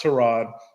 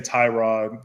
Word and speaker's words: Tyrod: to Rod Taylor which his first name is pronounced trod the NFL or the uh play-by-play guys were saying it wrong they keep saying Tyrod it's always they have always said Tyrod I call him too